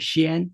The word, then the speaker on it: 仙: So you know how the word sound xian, meaning immortal, can be generated by two Chinese characters, xi and an, respectively.